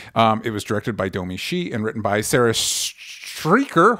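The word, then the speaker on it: Domee Shi: it was directed by domi she and written by sarah streeker hopefully pronounce that correct julia cho and of course domici domi she excuse me and it is about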